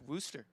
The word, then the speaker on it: Worcester: yeah but to those folks up there it's worcester all right yeah i've been yelled at about